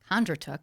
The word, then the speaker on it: Kondratuk: i have a wonderful couple and kondratook i think i said it right you did